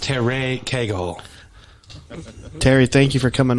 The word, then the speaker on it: Cagle: always like is this Cherry eagle so you know you know I don't know I don't know anybody who goes by Kegel so you got the wrong number it's pronounced Terre Kegel Terry thank you for